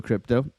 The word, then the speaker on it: Crypto: Uh, that's how you pronounce Alexa krypto. Alex krypto. Creep. It's creep. You got to you got to roll that R.